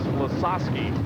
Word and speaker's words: Lasoski: Dan and his fans we have received about four different spellings and pronunciations on his name today and we are finally told that it is losasi so Dan is back